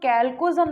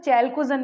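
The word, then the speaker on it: chalcogen: किस नाम से, कैल्कोजन, या इसे कभी कभी जो प्रोनाउंसिएशन होता है चैल्कोजन भी कर देते हैं ना। तो स्पेलिंग देख लेना, कैल्कोजन, कैल्कोजन के नाम से जानते हैं, या चैल्कोजन भी कह देते हैं कई बार।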